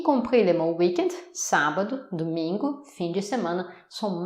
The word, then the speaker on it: sábado: Le week-end, on va dire sábado. Donc samedi, sábado. Attention, il y a un accent. Et où il y a un accent, c'est la syllabe forte.